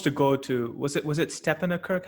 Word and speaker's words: Stepanakert: I certainly hope that's the case too, because we were supposed to go to, was it Stepanakert? How do you pronounce that? Yeah, the Stepanakert is the capital of the Nagorno-Karabakh.